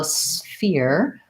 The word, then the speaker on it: sphere: term terms and then sphere is one that doesn't really follow typical rules from American English for spelling or pronunciation so sphere we have to do a s sound and an F sound together and then we have the year diphthong so I would start with year and then I would try